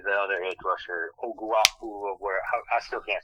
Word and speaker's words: Ovie Oghoufo: It was, however you say the other edge rusher, Oguafu, I still can't say his name. I'm sorry. Ovie Oghoufo.